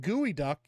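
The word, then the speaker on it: geoduck: on chat here when in Food Network is pronounced gooey duck yeah that's right yeah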